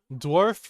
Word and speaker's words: dwarf: Remember, dwarf rhymes with scarf, and it is pronounced very similar. You say dw, arf.